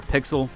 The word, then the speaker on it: PXL: Originally, I had mispronounced this, the PXL, but they do actually pronounce it over there, Pixel.